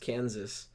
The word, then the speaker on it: Kansas: stuck thus would provide we pronounce the last s in Kansas but not in Arkansas okay who had the